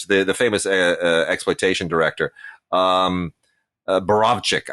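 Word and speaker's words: Borowczyk: Borochik, the famous exploitation director. Borovchik, I guess is the correct pronunciation.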